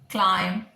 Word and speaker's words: climb: We've done B silent, dumb, plumber, climb, thumb, where B was silent, debt, debtor, right?